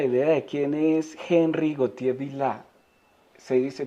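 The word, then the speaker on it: Gauthier-Villars: un poco la idea de quién es Henry gotier vil se dice se pronuncia así Quién fue Henry goti ese era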